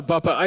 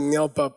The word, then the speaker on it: dar la bab pa: The next one is called dar la babpa (DAR LA BAB PA)-- I mispronounced it before--I said ngel bap, but the carving was wrong. It's dar la babpa.